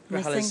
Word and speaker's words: Grajales: Grajales, yeah.